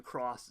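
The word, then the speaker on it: Cross-Z: that it was it's spelled in English like a cross Z, but still pronounced Cross. So, I don't know. It's been a mess. I'm going to say Cross for the purpose of this video.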